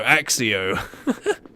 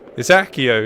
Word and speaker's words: Accio: No, Axio. And then the guy just went, "Alright, we're going to call it Axio." It's like, no, but it's Accio. It's spelt with a C.